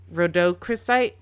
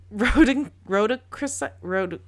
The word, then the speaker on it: rhodochrosite: I know this stone, but I don't know how to pronounce this term. You can do it. I believe in you. Rhodochrosite? Nope. Rhodochrosite.